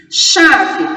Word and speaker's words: chave: Chave, tem o CH. Olha que o H não está iniciando a palavra. Número de letras. Visualmente, já dá para perceber que são 5. E número de fonemas? Eu tenho um dígrafo. Se eu tenho um dígrafo, duas letras terão a equivalência de um som. CH vale por um som, o A vale por